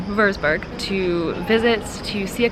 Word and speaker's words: Würzburg: a day in Frankfurt we are going to Vailsburg Vailsburg trying to say it like German würzburg two visits to see